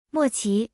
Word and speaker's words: 万俟: 莫奇同样是典型的少数